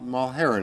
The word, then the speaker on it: Mulherin: spelled Muharram right - matheran ma ma Harun is how you pronounce it smells like a good